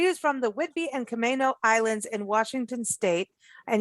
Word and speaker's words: Camano: She is from the Whidbey and Camano Islands in Washington State.